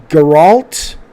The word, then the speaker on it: Geralt: geralt says cr3d jaffa you pronounce it like harold with a g and a t geralt gerald gr [ __